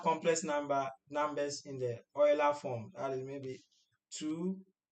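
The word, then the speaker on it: Euler: Oiler to rectangular please the pronunciation of that this word depends on the school that you attended I went to KU said like English teachers you know you understand so so I call it Oiler yeah so depending on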